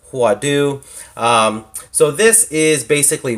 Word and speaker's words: Huadoo: and in the front I believe it is pronounced huadu um so this is